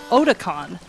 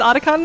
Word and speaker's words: Otakon: up my pronunciation of oticon it's ottaka it's otakon the games it's oticon for realsies otaku convention it's like